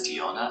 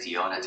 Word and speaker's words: Diona: Okay, so earlier I mispronounced her name as Diona. I keep doing that. It's like Diona.